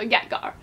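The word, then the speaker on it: Ytger: So Nehemia, and then Yetgar, like Garson, so Yetgar.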